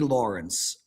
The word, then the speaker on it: Lawrence: Wait, Lawrence has 3 syllables? Kid Lawrence. Who's pronouncing Lawrence with 3 syllables? Lawrence. 2 syllables.